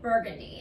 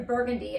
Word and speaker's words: Burgundy: We have a street name called Burgundy, but it's spelled Burgundy. And so people always pronounce, people who are from out of town, like, oh, I want to go to Burgundy.